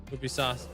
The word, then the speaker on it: Ubisoft: Ubisoft pronounce it like you, but soft.